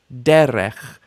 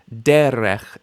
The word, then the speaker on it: derech: Derech. Derech. Initial stress.